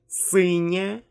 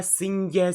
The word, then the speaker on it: синє: Синє, синю, синя. Okay? I don't pronounce it like синья, синье, синью.